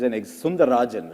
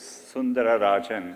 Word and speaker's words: Sundararajan: One of the things I read about you, it said Sundar Pichai is Sundarajan, right? To give you the whole name. It actually was Sundararajan.